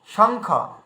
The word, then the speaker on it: শঙ্খ: তো উয়ার উচ্চারণ আসলে কি দাঁড়াচ্ছে, শঙ্খ। এই দেখুন শঙ্খ।